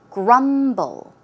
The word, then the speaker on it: grumble: The pronunciation is grumble, grumble. The stress goes on the first syllable.